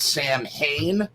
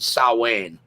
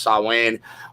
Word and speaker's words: Samhain: incorrect it's actually pronounced salwan as how you pronounce it even though it is written yeah s-a-m-h-a-i-n it is actually pronounced sawing which probably goes into the gaelic pronunciation um although in ireland